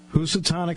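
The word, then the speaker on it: Housatonic: class all the way out of Kanan Connecticut who satanic High School yes I might be one of the few people that can pronounce it correctly right you're right uh and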